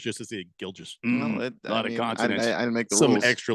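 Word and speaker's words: Gilgeous: letters just to see gilges some extra letters in there Shay gilis Alexander yes the U is silent I am never silent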